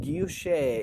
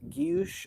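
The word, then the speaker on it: guilloché: Guilloche, yes. Guilloche or guilloche, depending on how you say it, Kim.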